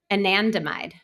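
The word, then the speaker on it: anandamide: Anandmide.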